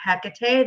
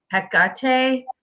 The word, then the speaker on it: Hecate: to spell it and there's many ways to say it I I say Hecate there are some people that say Hecate there's so many people say it differently so who knows what's